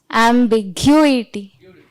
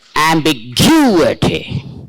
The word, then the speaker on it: ambiguity: So how will you pronounce with stress? Ambiguity. Correct. Perfectly. Give her a big hand, please. Perfect. Ambiguity. See, that is how it should be pronounced.